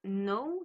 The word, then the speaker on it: know: Deuxème exemple pour le verbe know qui veut dire savoir.